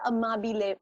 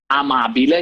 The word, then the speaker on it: amabile: But what does amabile mean? Okay, so amabile, you pronounced it perfectly.